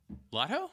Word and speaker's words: Lotho: on and talk about lofo Lotto Lotto l-o-t-h-o lotto what have you ever seen th and and pronounce it Lotto yeah it's Lord of